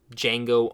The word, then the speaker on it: Django: my number one is Django Unchained the D is silent and he knows Best